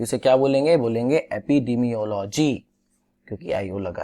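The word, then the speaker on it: epidemiology: एपिडेमियोलॉजी, डिमियोलॉजी not, sorry for the wrong pronunciation.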